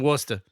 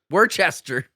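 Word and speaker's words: Worcester: We live in Worster. That's I'm like how is that word two syllables? You can't say that word in two. Live in Worster. Worchester.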